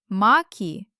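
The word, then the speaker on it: маки: Oh, in the last pair, mak is one flower, a hard finale, and maki means many flowers, and the letter ka in the middle instantly became soft because of the letter e at the end.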